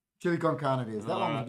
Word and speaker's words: chili con carne: chili con cam. Can. All right. Chili con carne it is.